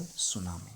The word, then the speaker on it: tsunami: So as a result, a huge tidal wave called tsunami. So as you know, ये टी लिखा है बट टी इज a silent, ठीक है।